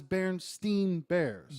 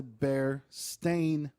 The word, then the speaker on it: Berenstain: of it it was Berenstein bears Berenstein bears right yeah Stein Steve come to find out it's the bear stain Bears the Bears staying bears that's how it's pronounced that doesn't make sense